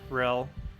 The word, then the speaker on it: Rel: Relly? Rel. Rahel? Rahel. Riel? I'll get it eventually. Rhymes with bell. Rel.